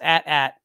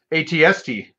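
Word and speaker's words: AT-AT: dan's getting onto me it's at rhymes with bat some people say i stay a-t-a-t people say tomato some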